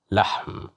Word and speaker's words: لحم: لحم, لحم, لحم. Here we have fatha at the top of the letter lam, so that's why we pronounced it as la, lahm, which means meat.